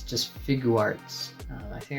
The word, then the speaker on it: Figuarts: the way from Japan this is the sh figurearts janger Fett action figure this one was released